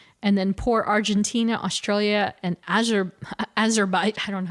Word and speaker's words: Azerbaijan: And then poor Argentina, Australia, and Azerbaijan. I don't know how to say it. Azerbaijan?